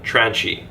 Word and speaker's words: tranche: many inflections, such as pronouncing the word tranche with a soft chi.